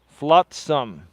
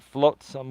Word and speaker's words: flotsam: saved Robbie right and it is pronounced flotsam not float some well hey okay dude